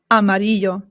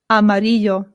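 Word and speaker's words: amarillo: Amario. Amario. Remember that the double L in Spanish makes a Y sound.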